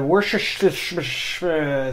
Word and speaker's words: Worcestershire: And I'm going to do the Worcestershire sauce. Nailed it. Yep. For a second time. That's how you pronounce it.